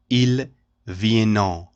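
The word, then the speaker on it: vient: from for example we don't say IL Vienna this oente is not pronounced at the end of this verb we say it is pronounced like that ilvien examples will you come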